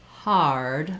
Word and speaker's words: hard: back American R position versus R, hard, my tongue has to glide on the R. It starts a little bit lower and then it glides into that tight R position.